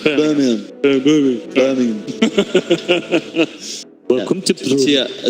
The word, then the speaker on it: Birmingham: I try and say it like the locals. Like Birmingham.